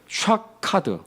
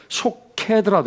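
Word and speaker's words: שֹׁקֵד: 여기에 내 말을 지켜 이 할 때 지켜는 샤카드. 물론 이제 그게 변형이 되어서 쇼케드라도 해요. 쇼케드. 근데 샤카드라고 이제 보시면 돼요.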